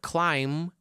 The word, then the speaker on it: climb: And when you say the word climb, what's the last sound? It's not b. It's m. Climb.